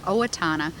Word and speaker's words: Owatonna: I wrote it out, you probably couldn't even pronounce it, but it's called Owatonna, which is an Indian name, and it's in southern Minnesota, quite near Rochester, where the Mayo Clinic is.